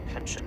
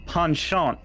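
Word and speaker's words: penchant: indulge in a human pension for joyriding it's pronounced panchan it's French not so bad you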